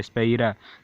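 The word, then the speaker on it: σφαῖρα: है, इसको कहते हैं स्पेरा, SPHAIRA, आसान है स्पेलिंग, एक बार याद रखोगे हो जाएगा, SPHAIR, स्पेरा।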